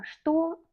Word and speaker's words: что: Что, quoi? Donc, qu'est-ce que? Что ты делаешь? Qu'est-ce que tu fais? On écrit что, mais on prononce comme что.